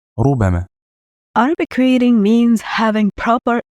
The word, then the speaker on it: ربما: Although the letter B is not stressed, it's light. So, the correct pronunciation is ربما.